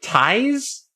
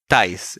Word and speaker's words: Thijs: We have This is the weirdest name pronunciation to me. So it's apparently Ties. Ties, yeah.